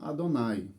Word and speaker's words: Adonai: consoantes do nome sagrado não deveria ser lido mas deveria ser eh pronunciado como Adonai então lembrava e fazia